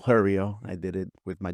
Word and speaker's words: Hurryio: so and this one's pronounced Hurryio. It's because like hurry. It's like Hurryio.